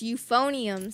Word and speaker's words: euphonium: three four no euphonium oh that's how you say it it's euphonium sound euphonium I guess that